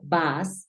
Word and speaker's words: bus: en inglés se pronuncia bas Mira es una u suena bas entonces significa lo mismo